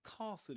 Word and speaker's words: castle: We don't pronounce the T sound in this case.